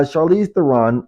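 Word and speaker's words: Charlize Theron: Charize Theon. Chariss. I pronounced her first name. So, Charize. Chariss Theon. Yeah. Uh, Charize Theron.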